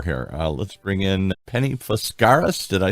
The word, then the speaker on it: Foscaris: Let's bring in Penny Foscaris.